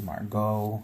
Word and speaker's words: Margot: martin manny margaret margot sometimes they spell it interesting but then you find out that the pronunciation is margot instead of margaret so you always have